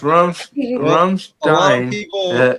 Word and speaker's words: Ramstein: It's Rumstein is how we were saying, but it's supposed to be uh sh uh uh for the s, but uh but we